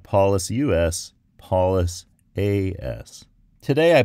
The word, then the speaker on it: Paulas: Maybe if I try saying something like, it's not Paulus with a U-S, but Paulus with an A-S, something will stick. Let's give that a shot. So, not Paulus U-S, Paulus A-S.